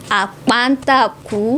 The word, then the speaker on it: Apata Ku: I don't want to murder your surname, so pronounce it yourself. So, thank you. My name is JCI Apata Ku.